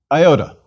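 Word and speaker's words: ιώτα: Iota. Iota is pronounced either as a long E, as in feet and police, or as short I, as in hit.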